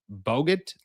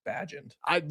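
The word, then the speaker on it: Bagent: If Aaron is a no-show, trade for Bears quarterback Tyson Bogut. I think it's Badgent. I was thinking, I was like, I know how it's pronounced, but that's not how it's pronounced spelled wise.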